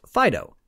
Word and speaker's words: FDO: Next was FDO, pronounced Fido.